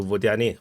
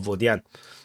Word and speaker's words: Vodyane: they are basically just a step across to Vodyane or Vodyane, depending on how you prefer to pronounce it in English or pronounce it in Russian, Ukrainian. So Vodyane sounds nicer.